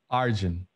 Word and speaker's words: Arjun: name arjun yeah however the way my name is pronounced now the way i like to explain it is it's like argentina without the tina arjun boom i'll call you